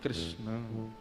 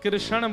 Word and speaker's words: कृष्ण: ठाकुर जी का नाम लोग अधिकतर कृष्ण शब्द का उच्चारण गलत करते हैं। कई लोग कृष्ण कहते हैं। कई लोग कृष्णा बोलते हैं। कई लोग कृष्ण बोलते हैं। बहुत उच्चारण उसका शुद्ध नहीं कर पाते। शुद्ध उच्चारण कृष्ण बोलो वृंदावन बिहारी